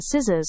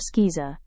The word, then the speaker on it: scissors: When C appears after S, like in scissors or science asterisk, it is often silent.